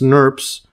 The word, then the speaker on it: snRNP: So SNRNP is pronounced SNRPs. This is right here, these SNRPs right there. Interesting pronunciation.